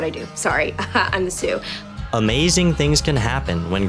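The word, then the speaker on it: sous: with Sydney K's New Seuss Chef par it it's pronounced Sue oo I don't know about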